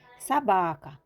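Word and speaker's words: собака: Sabaka. Sobaka yazılır. Sabaka okunur. Çünkü vurgu A'ya düşüp O'ya yok.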